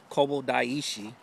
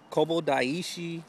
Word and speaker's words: Kobo Daishi: the name of this place but it's the Kobo daishi yep that's what I pronounced it now you may hear something else later but that's what I'm calling it Kobo daishi it's called the 88 temples um give you